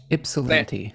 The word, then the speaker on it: Ypsilanti: Ypsilanti.